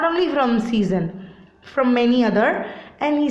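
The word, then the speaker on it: Cézanne: So likewise here, Ambrose also started to get those works, modern arts, from the artists, not only from Cezanne, from many other, and he started to give it off.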